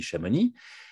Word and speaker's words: Chamonix: le mont blanc depuis chamonix en suisse on dit chamonix en dippach amonix chez nous on prononce pas le x finale moi non plus mais